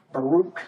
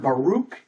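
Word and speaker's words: ברך: different word that is a Hebrew word Baro I think is how it is pronounced BR r k there aren't any vowels in that word and and so when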